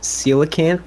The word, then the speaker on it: coelacanth: That's such an annoying word to pronounce, because I think the full word of it is coelacanth, is how you say it, but I don't know if you'd call it a seal.